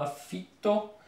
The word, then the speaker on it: affitto: Po włosku to jest affitto, affitto, jest podwójne F, więc długo affitto.